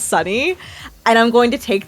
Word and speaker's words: SUNY: And I'm also tickled pink at uh how you've been pronouncing uh Sunni as Sunny.